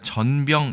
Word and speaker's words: 전병: 우리 는 이 글자들 을 " 전병 " 이라 고 읽습니다 . 첫 부분 은 장모음 입니다 .